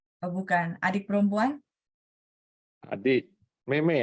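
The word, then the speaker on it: 妹妹: adik，妹妹啊，妹妹，妹妹， Mei ya. Mei. Jadi huruf pertama dibaca sesuai nadanya, huruf kedua dibaca nada 5 ya.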